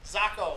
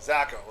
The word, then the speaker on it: Zacco: It's Zacco. Zacco, like taco. Zacco.